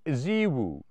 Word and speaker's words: ZEWO: I'm going to tell you about a company called Zwoo. You spell it Ze Wo.